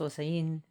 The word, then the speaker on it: Osain: Osin is pronounced osen. Um but then to the new world became osen and he spelled different things.